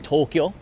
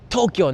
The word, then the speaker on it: Tokyo: It's Tokyo, not Tokyo じゃなくて Tokyo. 言ってください. Tokyo. Tokyo. Okay. It's no, Jari. To and KYO is 1 syllable.